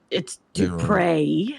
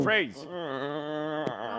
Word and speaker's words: Dupre: It's Dupre. That's what I There's said. no, Dupre's. no S. Don't pronounce the S. It's Dupre.